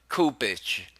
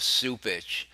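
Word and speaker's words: Cupich: Cardinal Kupich, or is it Supich? I'm being corrected here again. I guess it's the proper pronunciation is Supich. Of course, it's spelt with a C, but that's the English language for you.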